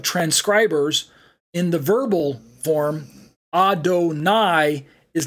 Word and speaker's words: Adonai: side of the screen we have Adonai pronounced as Adon plus I and it's a uh